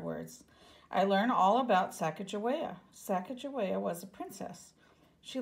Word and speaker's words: Sacagawea: fancy name Sacagawea you say it like this Sacagawea later miss glass has thrilling news thrilling is